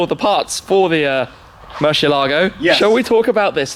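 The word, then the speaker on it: Murciélago: A lot of people have issues with me saying it Murcielago. That's actually how you say it in Spanish. But people in the UK say Murcielago or whatever. There's no right or wrong way to say it, honestly.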